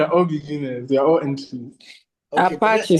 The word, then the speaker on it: Apache: Um so I think uh the software they used the from Apach they release a fix for their software. You call it Apach? Yes. Apache.